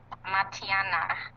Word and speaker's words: Matianak: do you say the name of the man matiana matiana that's cool so I I see you